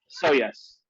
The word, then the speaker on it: Shoujas: sojos so so yeah so basically it the j is just a y so yes so yes show us